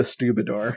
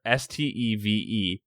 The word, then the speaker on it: stevedore: You brought this up before, but I think you called it a Stubidor. Well, it's spelled fucking weird like that. Stubidor. Oh, I've heard of Stubidor. Hold on, let me look it up. It's that's right. It's spelled Stevedore.